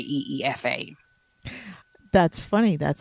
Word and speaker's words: Aoife: But if I'm spelling it phonetically, I always just say EEFA.